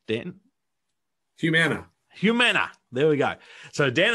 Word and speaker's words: Humana: His 20-year professional career, including leadership positions at McDonald's, Discover, and I'll have to ask you to pronounce this because I don't want to get it wrong, Dan. Humana.